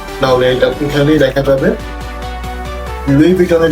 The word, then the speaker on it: Louis Vuitton: ভাই, এটা কিন্তু লুই ভিটন, লুইস ভিটনও না, লুইস বাটনও না, লুইস ভূষণও না। রিমেম্বার, এটা হচ্ছে লুই ভিটন।